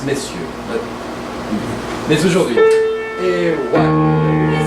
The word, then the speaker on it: messieurs: Monsieur is a combined word from Old French, but it's pronounced monsieur. And if it's plural, it's messieurs.